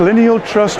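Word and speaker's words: Lyneal Trust: You're from Lineal Trust, is that how we pronounce it? That's correct, Lineal Trust, which is just based outside of Ellesmere, and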